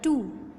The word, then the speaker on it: two: And last word है 12 टू TWO लेकिन जो W है वो साइलेंट है।